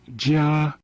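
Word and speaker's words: 加: basic sound characters in mandarin this character is pronounced jia it was shortened into this shape which is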